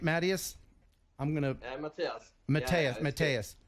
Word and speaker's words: Mattias: Matias, as in rock me.